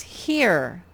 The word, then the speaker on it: here: next one it says here this one makes more sense ear this is a silent e it's only job is to make this one say his name okay so it's